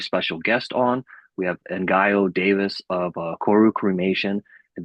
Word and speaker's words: Ngaio: And just so those of your listeners who are watching will be able to make sense of my name, the easy way to pronounce it is Ngaio.